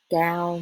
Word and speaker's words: cao: Cao means tall.